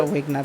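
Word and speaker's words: Wegener: ইংলিশে উচ্চারণটা ওয়েগনার হয়। ওয়েগনার লিখতে পারো।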